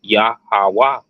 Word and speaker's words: Yahweh: We see utilized to spell the Father's name, the Yah, Ha, Wah, Ha characters, which spell Yahweh, and would be pronounced Yahweh.